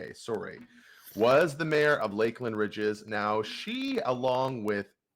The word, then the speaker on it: Lakeland: and unfortunately I think examples like Lakeland or maybe it's laand Bridges um well it's spelled yeah it's spelled l a ke land so Lakeland Lakeland y uh yeah